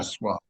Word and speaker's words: Sasquatch: A lot of people pronounce it Sasquatch, like it's Sauce, sauce Sauce squatch, not squatch. Sasquatch, it's Right. Sasquatch.